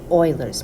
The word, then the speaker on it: Euler: equation and that's called Oilers's method. And yes, I know it's spelled with an eu but it's actually pronounced like oilers. Okay, like an oil rig.